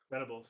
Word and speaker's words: Venables: day, it's just that they aren't like vulnerables, Vertibles. How the fuck do you say his name? Vertibles, Venables.